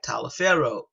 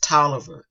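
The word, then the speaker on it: Taliaferro: it is spell t-a-l-i-a-f-e-r-r-o like tyler pharaoh but we do pronounce it toliver so the person and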